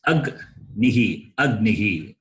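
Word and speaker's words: अग्निः: have to do is you have to see the preceding vowel. What is the preceding vowel here? So with the vowel, you can pronounce agnihi. Understand? That is how we have to read a conjunct consonant. You understand what I am saying? Yes or no? Yes, sir. Yes, sir. So it is agnihi.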